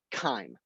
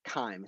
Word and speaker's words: chyme: substance that we call chyme chyme it rhymes with time also it is misspelled here on this slideshow it is spelled chyme c-h-y-m-e not chime it